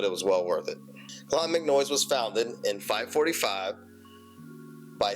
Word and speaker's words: Clonmacnoise: We landed at 5 a.m., got in the rental car, and made our way to Clonmacnoise. Yeah, I said it right that time.